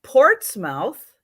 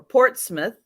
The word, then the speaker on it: Portsmouth: This is Portsmouth or Portsmouth, depending on how you like to pronounce it.